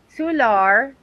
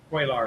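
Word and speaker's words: Cuellar: Democratic representative Henry Sular maybe. Oh, okay. Quailar. Okay. Quar. Okay. Quaar said in a post on X quar. There's you say it like there's no L's.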